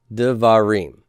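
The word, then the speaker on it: דְּבָרִים: Davar in the plural is de va rim. Remember that? Devarim. Davar, singular, devarim, plural. Okay, where is my stress on this word? It's on really the reem, right?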